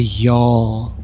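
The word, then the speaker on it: Gjall: up is the y'all that's how you pronounce that the g is silent and the J sounds like a y the y'all this thing is really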